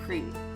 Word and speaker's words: Crete: It's pronounced Crete. It's a Greek island.